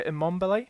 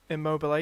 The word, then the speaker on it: Immobile: I've got Mbappe already, but I put Messi in and the Lazio striker Immobile. That's how you pronounce his name. Immobile, yeah.